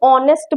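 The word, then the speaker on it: honest: ऑनेस्ट person ठीक है इसमें एच जो होता है वो साइलेंट होता है एच की हम नेस्ट नहीं बोलते हैं हम ऑनेस्ट बोलते हैं एच साइलेंट होता है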